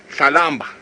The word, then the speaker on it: Tlalamba: Tlalamba is how you say Tandi's cub's name.